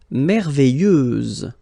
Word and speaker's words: merveilleuse: Merveilleuse, so final S, and then, what a surprise, you don't pronounce it.